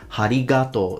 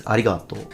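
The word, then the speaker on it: ありがとう: And as I listened to it again, he actually put aspiration, he added ha. He says harigato. There is no ha, it's arigato.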